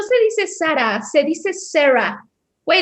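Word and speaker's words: Zara: O sea, una chava que yo vea que no se dice Sara, se dice Sarah. Güey, la marca es española, no se dice Sarah, o sea, Sara, ni siquiera saben de dónde viene nada, ¿no?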